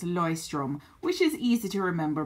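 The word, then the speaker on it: Leuchtturm: I've tended to use a lot is the noise strim and I know the pronunciation is kind of funny um that's Hoyts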